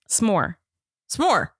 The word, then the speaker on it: s'more: And so I think I say it too much like some more instead of more. Like I literally can't. I literally cannot say it without the vowel in there. Say it. S'more.